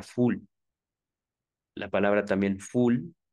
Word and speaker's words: foule: equivoqué es el francés palabra francesa outles multitud se pronuncia full la palabra también full